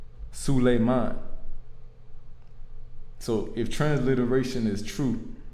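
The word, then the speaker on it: سليمان: In the Arabic, it's Sulayman. Sulayman.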